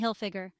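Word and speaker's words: Hilfiger: rhymes with line Tommy hillfiger Tommy hillfiger the hillfigure is pronounced like it looks with emphasis on Hill Michael Kors Mel Kors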